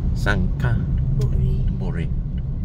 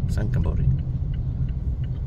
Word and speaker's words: Sangkhla Buri: Sangkhla Buri. Sangkhla Buri.